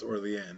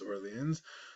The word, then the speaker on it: Orléans: New Orleans, Louisiana, is named after Old Orleans, the original Orleans in France, but because it's French, even though it's spelled that way, it's pronounced Orléans. It's not pronounced Orleans.